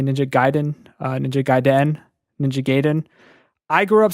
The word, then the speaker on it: Ninja Gaiden: elephant in the room there are multiple pronounces pronunciations of ninja gaiden a lot of people say Ninja Gaiden Ninja Gaiden Ninja Gaiden I grew up saying Ninja Gaiden that's what